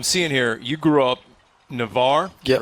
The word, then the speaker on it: Navarre: So I'm seeing here, you grew up Navarre.